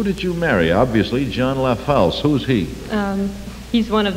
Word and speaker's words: LaFalce: The last of the, how do you pronounce it? LaFalce.